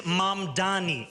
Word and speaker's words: Mamdani: And furthermore, the name is Mamani. M A M D A N I. You should learn how to say it because we got to get it right.